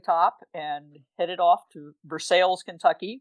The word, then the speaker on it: Versailles: and headed off to versailles kentucky which is how we pronounce it it looks like versailles but it's for sale if there was this